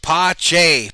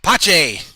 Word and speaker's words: Pache: he didn't pitch and tdot says his name is pronounced pache pache pache balls two strikes to